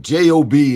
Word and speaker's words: Job: Look, J-O-B is I know it's pronounced Job in the Bible, but it's the longest book in the Bible. J-O-B, job. Yeah. Job. Exactly. Job had a job. It's pronounced Job, but it spells job.